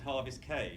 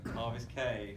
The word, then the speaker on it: Harvest Cay: So Harvest Cay, and I'm assured that it's Great Stirrup Key and Harvest Cay, just to confuse me.